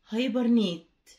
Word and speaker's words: hibernate: يدخل في بيات شتوي hibernate هايبرنيت هايبرنيت اتش اي بي اي ار ان اي تي اي، حرف الاتش بينطق اهي هايبرنيت.